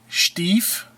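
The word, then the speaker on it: Stieff: It's a Williamsburg Stief sterling. Now I say Stief because I'm a little more prolific on the German, but you can call it Stief, but it's spelled S-T-I-E-F-F, sterling.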